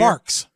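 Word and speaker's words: Barq's: Is it Barg's root beer? Barks. Barks. Barks root beer, 44 grams of sugar, and Arizona green tea, 42 grams of sugar.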